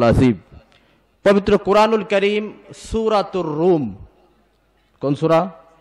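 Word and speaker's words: روم: পবিত্র কোরআনুল কারীম সূরাতুর রুম। কোন সূরা? রোম নামে পৃথিবীতে একটি দেশ আছে, জানেন? সে দেশের নামে একটি সূরা। আমরা যদিও বলি রোম, কিন্তু উচ্চারণটি আরবিতে রুম, সূরাতুর রুম।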